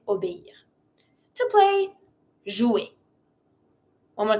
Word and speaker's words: obéir: Obéir. Obéir. Really dissociate the E with the high accent and the I R. Obéir. And then you say obéir.